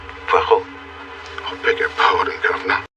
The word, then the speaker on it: Poirot: Poirot. No. Poirot. It is pronounced Poirot.